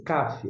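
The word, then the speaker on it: כף: Esse CAF, essa consoante com pontinho dentro tem o som de eh de K ou o C, como na palavra casa, com o pontinho dentro.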